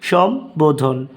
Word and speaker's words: সম্বোধন: তারপর নাম্বার ব অথবা ম এর সাথে ব ফলা যুক্ত হলে ব এর উচ্চারণ অবিকৃত থাকে অর্থাৎ উচ্চারণ কোন পরিবর্তন